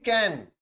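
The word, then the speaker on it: Cayenne: यहां पे आपको दिखेगी कैन याद रखिएगा कैयान नाम है यानी स्पेलिंग भी याद रखिएगा सी ए वाई E double N ई केन तो सर ये फ्रेंच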